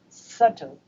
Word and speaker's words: subtle: it's another one is subtle though there is a b in this word but b is a letter b is silent in this word and you can pronounce